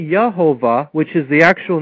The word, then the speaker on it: Jehovah: a problem in that Jehovah is not pronounced correctly because the J was a y sound in Latin it should be yahovah which is the actual